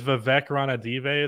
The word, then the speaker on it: Vivek Ranadive: king's ownership i think his name is vivek ranadive is how you say his name he is so invested